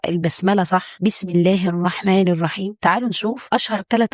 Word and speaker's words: الرحمن: معانا الراء المشدده في الرحمن الرحيم الراء هنا مشدده ومفتوحه يعني مفخمه وفي نفس الوقت لازم تنتبه لعدم تكرار الراء بشكل مبالغ فيه يعني ما نقولش الرحمن قولها بضء واعتدال الرحمن الرحيم اسمعها كده بالنطق الصحي